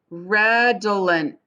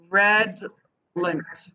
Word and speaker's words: redolent: look this up so let's look at the phonetic spelling for redelent because i might be doing it wrong redolent red lint redolent right redland so that is how that is how it's pronounced it's weird they're not